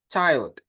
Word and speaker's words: child: Dibacanya bukan chill ya, tapi child. Oke, dibacanya itu child, Teman-teman.